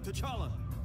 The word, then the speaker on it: T'Challa: T'Challa.